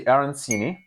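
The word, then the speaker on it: arancini: first we have the arini supposed be arini probably I've probably been saying it wrong the entire episode I think you have because the C is a CH sound thank you the a is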